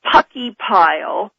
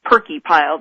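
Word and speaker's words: Purkeypile: about seismograph stations in pucky pile spelled p u r c ke y p i l e and some people call it perky pile I've heard both pronunciations and toita Alaska he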